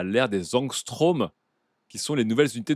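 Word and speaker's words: ångström: technologico marketing et grand qui dit ça se prononce angstrom pardon je suis chimiste et ben merci beaucoup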